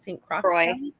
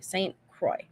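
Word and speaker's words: St. Croix: Wisconsin St Crocs county is that how you pronounce it St Crocs St Croy okay thank you St Croy so I'm I've never been tubing I'm not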